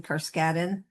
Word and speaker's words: Carskadon: And by the way, the family pronounces my surname Carskadon.